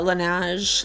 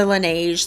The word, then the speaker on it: Laneige: lip balm i tend to just use the lineage lineage i never know how to say it with the laneige like lip glowy balm i tend to just